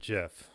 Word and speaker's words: GIF: caption on that well the guy who invented the gif pronounces it jiff so i think i'll